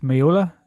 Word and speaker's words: Meola: So, for the next episode, we have Keith Miola. Am I pronouncing that right? Yeah, Keith Miola.